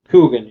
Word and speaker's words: Coogan: I can't pronounce Jackie Coogan. Coogan, yeah.